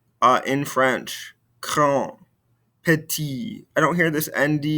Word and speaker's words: petit: nipati so again uh notice how we're not pronouncing these ending consonants uh in french kron petit i don't hear this